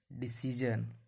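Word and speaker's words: decision: डिसीजन, एस के बाद क्या है, IO है, IA है, इसीलिए इसको पढ़ा जाता है डिसीजन, टेंशन या पर्सिया। टी का उच्चारण, टी का उच्चारण ऐसे तो टा होता है, लेकिन टी का उच्चारण कभी थ भी होता है।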